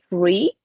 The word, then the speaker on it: free: For example, we have the word free, that you know, like in American English is the TH. It is pronounced differently to the T, but in Irish it will be tree. Okay, just like the number.